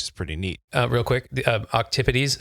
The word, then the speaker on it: octopodes: And so cephalopods, this is the group of mollusks that includes octopuses or octopodes, or what I recently learned, the Greek pronunciation octopodes, which I love.